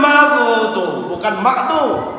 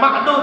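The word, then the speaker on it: المغضوب: Na'an'amta alaihim ghairil maghdubi, bukan ma'du tetapi maghdu, ghair hurufnya.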